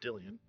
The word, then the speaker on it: Dillian: To be honest, if you say his name right, it's Dillian, but it's all right.